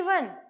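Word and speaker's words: one: क्योंकि आप जब इसका प्रोनाउंसिएशन करेंगे तो वन होता है, तो जो उसका प्रोनाउंसिएशन आ रहा है उसमें व का साउंड आ रहा है ना कि ओ का.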